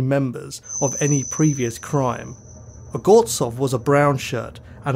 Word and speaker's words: Ogorzow: Now, I've actually checked the pronunciation of the surname and I found the correct pronunciation is Ogorzow, although some documentaries pronounce it Ogorzow. I spoke to a German who clarified this, so we'll be pronouncing it as a normal German-speaking person would do.